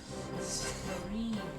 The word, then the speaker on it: Turin: Turin instead of Turin. Yes, that's right. The emphasis on the wrong syllable.